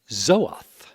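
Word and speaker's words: זאת: Pronounced Zoath in Hebrew, the first time the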